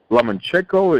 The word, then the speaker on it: Lomachenko: a lightweight unification bout it was Pedraza versus lemon check over am i pronouncing that right yes by cielo Michiko against